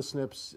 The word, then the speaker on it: SNP: And we pronounce it SNP.